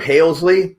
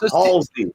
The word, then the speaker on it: Halsey: Halesley? No, no Halesley here. Bye. Yeah. It's like it's Halsey.